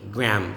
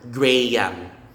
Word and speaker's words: Graham: gram gram silent h silent a graham or graham graham but not graham okay next to raise